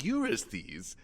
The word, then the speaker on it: Eurystheus: No, I'm King Eurystheus. We got the pronunciation wrong in part 1, and then just doubled down.